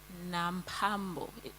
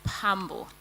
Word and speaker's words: Pambo: H, he said I'm Nambo. Is that what you said? No, it's Pambo.